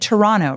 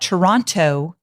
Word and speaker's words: Toronto: Notice I said Toronto, right? Because the Canadians have told me that Toronto is not how you say it. So I feel very cool when I say Toronto because I just feel like I'm part of the people.